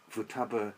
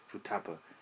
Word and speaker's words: Futaba: name of their hometown, Futaba, as the number 2 can be pronounced Futa in Japanese, and 8 as Hachi, which is considered to possess a phonetic similar to Ba.